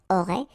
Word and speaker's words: auraient: Ils auraient, remember, ENT, you don't pronounce it, auraient, ils auraient, elles auraient.